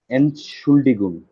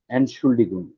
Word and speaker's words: Entschuldigung: উচ্চারণটা কিভাবে হবে যে এন্ড শুল্লিকুম, আন, এনশুল্ডিগুম, এই তো হয়ে গেছে, আরেকবার বলেন। এনশুল্ডিগুম।